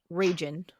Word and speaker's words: Raygun: a baby name, I just want to submit Raygun. Name your baby Raygun for us. Pronounced Ragin.